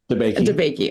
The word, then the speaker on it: DeBakey: DeBakey.